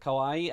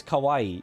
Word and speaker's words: kawaii: A lot of people say kawaii which means scary and not kawaii which is cute.